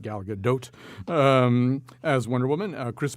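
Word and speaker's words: Gal Gadot: for you it stars galgadot I looked it up that's how you say it Galaga doe um as Wonder Woman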